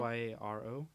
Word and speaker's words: gyro: Gyro. I thought it was called Euro. You can say it the American way and be a gyro, or you can. I think the correct pronunciation is hero.